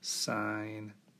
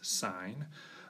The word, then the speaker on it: sine: Sine of theta. Often, though, we'll abbreviate this as sin. Don't pronounce that as sin, it's sine.